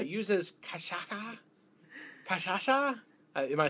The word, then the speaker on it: cachaça: It's uses cachaça.